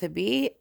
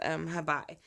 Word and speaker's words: Hebe: I did find two different pronunciations of the name, but I'm going to go with Hebe. The other one was Hebe.